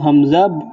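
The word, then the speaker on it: ح: হা যখন উচ্চারণ করবেন তখন নিজের গলার মধ্যে আওয়াজ দিবেন, শক্ত করে গলার মধ্যখান থেকে আসবে, যেহেতু গলার দিকে চাপ দিলে, আওয়াজে চাপ দিলে তখন হা আসবে, নতুবা হা হয়ে যাবে।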